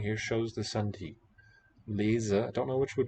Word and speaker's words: lezen: Lezen, if it's between vowels, it's voiced z, spelled with z. And here next to the voiceless T, also in a coda, it's voiceless.